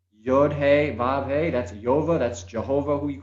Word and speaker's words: Yahweh: So you have YH, the WH, Yahweh. That's all mispronounced. Every culture has their own way of saying it, but it's Yova, and it is, if